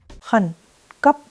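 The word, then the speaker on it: khẩn cấp: Hun cup. Both syllables fall. Two falls in sequence sound like pure urgency.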